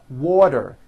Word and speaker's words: water: here are three examples water is pronounced as water the t turns into a d and the whole word is voiced water I want water